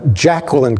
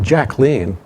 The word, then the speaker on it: Jacqueline: Jacqueline Kennedy, and by the way, it's not Jacqueline Kennedy. She pronounced it Jacqueline, which according to Caroline Kennedy.